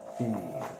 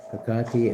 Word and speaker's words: Hecate: Hecate. Past life healing, Pisces. It's safe to speak. Set your inner witch free. Hecate is pronounced Hecate or Hecate.